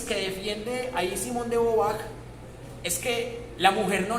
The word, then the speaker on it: Beauvoir: ¿Era de Beauvoir o de Beauvoir? Bueno, yo he visto que la pronunciación es de Beauvoir, o sea, dicen de Beauvoir, pero es francés como de Beauvoir.